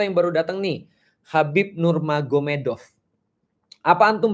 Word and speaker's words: Nurmagomedov: Muhammad jadi mahomed jadi tulisnya magomed Tapi bacanya mahomed kan gitu kan Ya jadi Nur magomedov itu jadi Nur mahomed Jadi maksudnya Nur Muhammad